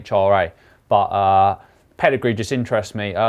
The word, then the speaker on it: Comhra: I think that's how it's pronounced. It's Comhra.